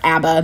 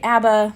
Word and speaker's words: ABBA: I was truly tiny my dad loves Abba or Abba most Americans say Abba the sweds say Abba who knows my Dad